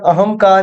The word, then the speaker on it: अहंकार: धनगम संगम समंतोष संतोष ये उच्चारण में न होता है लेकिन इनको लिखने में न होता है किंतु इनका उच्चारण म के अनुसार भी कर सकते हैं। अहम अहम धनकार अहंकार की अहंकार हम इसका उच्चारण करते हैं लेकिन ये विशुद्ध अशुद्ध है शुद्ध इसका उच्चारण अहंकार ही है किम दचित किंचित है